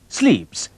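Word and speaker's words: slips: टाई को कहते हैं स्लीप्स। स्लीप्स ऐसे ही प्रोनाउंस करते हैं।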